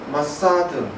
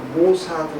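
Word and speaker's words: מוסד: 이스라엘의 정보기관인 마사드, 발음은 이제 우리는 모사드 이렇게 얘기하는데, 이 아주 비밀 경찰이죠.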